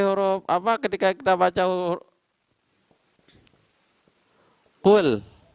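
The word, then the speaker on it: قل: Di sinilah wajib tipis, tidak boleh atau wajib lemah. Kul, tidak boleh kita tebalkan terpengaruh dengan huruf qaf. Ataupun misalnya ini diganti dengan huruf kaf, tapi tetap harokat dhammah kul. Tetap maka lam ini dibaca tipis. Tidak boleh tidak boleh kuat atau tebal.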